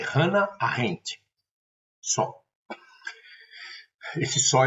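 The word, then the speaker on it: Hannah: Vou colocar aqui embaixo do do da videoaula, mas se pronuncia Hanna. Só a pronúncia em alemão, a pronúncia correta é Hanna.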